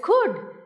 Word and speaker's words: could: When there is could, even though there is L, we know that it is silent.